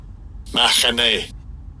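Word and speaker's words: מַחֲנֶה: And I'll give you a pronunciation. Strong's H4264. Mahane.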